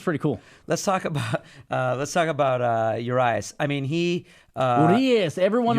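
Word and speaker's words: Urías: Let's talk about Urias. I mean, he... Urias. Everyone on Reddit was giving a shit how we pronounce his name. Urias. Julio Urias. You gotta say it in Mexican.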